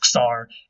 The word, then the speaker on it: tsar: Sometimes we spell it Czar, sometimes we spell it Tsar, but it's Czar either way.